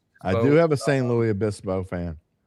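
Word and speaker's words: San Luis Obispo: You got you got to say the S. You talk pronunciation because the next the next word starts with the vowel. So, you say the S. St. Louis Abyispo. Yeah. Well, that's that's the rule.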